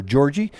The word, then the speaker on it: Georgia: days of Georgia Berkland I called her Georgie that was on the advice of Katie Herman I guess that's her nickname she refers she she refers uh uh Georgie um as her first name but I had a good chat with you yesterday and she actually likes the name Georgia as well like the state of Georgia so Georgie Berkland you